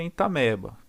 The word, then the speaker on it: Entamoeba: Se escreve entamoeba, mas a gente pronuncia entameba.